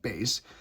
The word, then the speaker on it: bass: It looks like bass but it's pronounced bass.